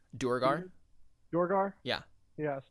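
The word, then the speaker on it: Duergar: So I don't know how to pronounce it. I think it's Druger. Durgar? Dorgar? Yeah. Yes, Dorgar.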